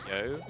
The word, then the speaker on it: You: So, um I completely glossed over it, but the part that we got in Sea of Trees, Yo, um which is spelled like the English pronoun you.